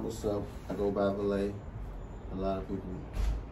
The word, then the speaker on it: Valee: are what's up what's up i go by valet a lot of people say that wrong with this man so that's how you pronounce it a lot of people think it's pronounced ballet yo valley so when did you have to